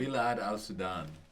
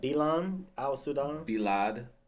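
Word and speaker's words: بلاد السودان: I might be pronouncing it incorrect. Is there a term to describe the entire continent? Bilad al-Sudan.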